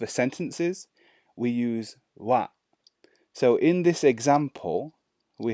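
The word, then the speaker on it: は: a hill Agana chart this symbol here you will see written as ha however in this context that we're going to talk about it's pronounced as Wow so when when to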